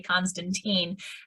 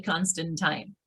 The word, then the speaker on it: Constantine: my name correctly because so many people look at it and say constantine and in fact it is actually constant time so as we carry